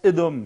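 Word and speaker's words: אדם: Donc, voilà, on écrit Aleph, Dalet, Mem, ça veut dire Adam, si on le prononce comme ça, et ça veut dire homme. Mais si on prononce Edom, c'est-à-dire avec les mêmes lettres, ça veut dire rouge.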